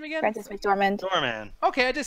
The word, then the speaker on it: McDormand: Frances McDormand.